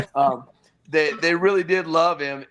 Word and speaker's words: Penix: That's actually how you say it. It's Penix.